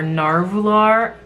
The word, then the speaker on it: Nahvalur: guys and that is a narwhal or narvular I believe that's how you pronounce it they changed their name